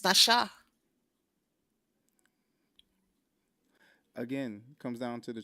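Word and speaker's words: נָשָׁא: and with it, I can't read the symbols, but we've got part of speech, verb, transliteration, nasha, pronunciation, nasha.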